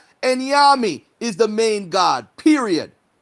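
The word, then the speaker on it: Onyame: how to pronounce the word. It's Enyami.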